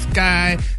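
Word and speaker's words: Skai: child star you'll miss sky jackson that's how you pronounce the name brad with skye s-k-a-i yes yeah let's pray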